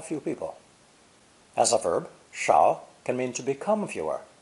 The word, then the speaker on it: 少: In modern Chinese, however, they've been differentiated, this new version being pronounced either third tone, shao, shao, or fourth tone, shao, shao.